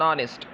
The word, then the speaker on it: honest: ہے an honest کی، تو یہ تو آپ کو فوراً معلوم ہو جائے گا کہ اس کا تلفظ کانسوننٹ سے نہیں ہو رہا، اس کا تلفظ کانسوننٹ سے نہیں ہو رہا، بلکہ اس کا تلفظ واول سے ہو رہا ہے۔ اب کون سے واول سے ہو رہا ہے؟